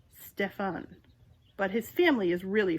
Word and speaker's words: Stephen: normal is Stephen Hobart Stephen pronounces his name like he's French Steffen but his family is